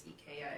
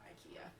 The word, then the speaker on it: IKEA: you're if you're a if you want to pronounce ikea the right way it's eka it's not ikea um but anyway i'm